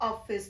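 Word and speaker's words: office: अगर आप इसका उच्चारण 'ऑफ-आइस' की तरह करते हैं, जिसमें 'ओ' की ध्वनि आती है, तो ऐसा न करें। यदि आप मूल वक्ताओं को ध्यान से सुनें, तो सही उच्चारण 'ऑफिस' होगा।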